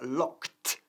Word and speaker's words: locked: El verbo, por supuesto, es regular, to lock, pero se pronuncia locked y no locked, ¿ok? El ed al final se pronuncia como si fuese una T fuerte. Lock, ¿ok? I've locked myself out.